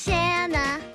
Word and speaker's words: Shanna: My name is Shanna. It rhymes with banana.